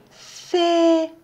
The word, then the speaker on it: fait: petit chat gris fait c'est le mot fait là on voit le i mais on le prononce pas parce que le a et le iv est alors ici on va lui mais on l'entend pas phi phi phi phi